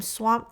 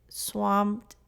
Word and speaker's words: swamped: pronunciation for example i'm swamped today swamped today the e d which sounds like a t is very subtle when you say it casually so i don't want